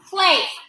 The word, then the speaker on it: place: Place. Pull A, and that E is silent because the E gave its power to the A.